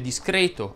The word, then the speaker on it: discreto: presto andremo a vedere ma l'hai tonica delle parole terminanti in rete ed eto'o va pronunciata chiusa infatti si dice discreto abete brunetto rete secrete